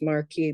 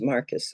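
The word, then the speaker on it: Marquess: late to say I know this can't be pronounced Marquee but how do you pronounce it and so he very kindly told me it was Marcus I was able to and it's even better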